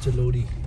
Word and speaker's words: Jalori: अच्छा इट्स जलोड़ी जलोड़ी या जैसे क्या कहते हैं कई सारे जगह पे आर में ड यूज होता है ना आर वैसे यहाँ पे जैसे spelling J ए एल ओ आर आई है बट it's called as जलोड़ी Jalori Pass got it aur ye Jalori Jot thi।